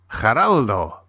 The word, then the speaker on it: Geraldo: "Geraldo," said Luis. "We pronounce the G as a H."